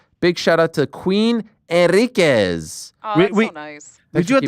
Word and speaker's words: Enriquez: Did I pronounce that correctly? Enriquez, yeah, you got it.